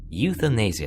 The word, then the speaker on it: euthanasia: say that mmm you thanks yeah euthanasia euthanasia euthanasia that's how you pronounce it anyway if you know pain and